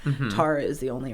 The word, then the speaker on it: Tara: Tara, like the substance.